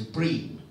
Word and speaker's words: Bream: Bream, it says Bream, rhymes with scream.